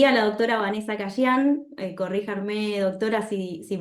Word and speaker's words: Cayian: de dicho municipio, y a la doctora Vanessa Cayán, corríjanme, doctora, si pronuncié mal el No, apellido.